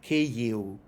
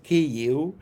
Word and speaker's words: Kyiv: And so V becomes a short U. So Ukrainians say Kyiv.